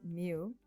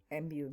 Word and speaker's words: mu: just have to find the mean which is mu mu mu right that's how we pronounce it and the formula given to us